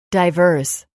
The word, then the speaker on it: diverse: Miami's a very diverse place.